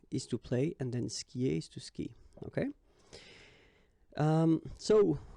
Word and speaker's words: skie: And it's exactly the same rule, so you've got this after, but then clearly you don't pronounce it, okay? Elle joue. And then, je skie, okay?